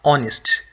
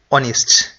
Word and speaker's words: honest: here both men are honest honest the H is silent you you don't say horest so you um you don't sound the H it is silent you say o honest both men are honest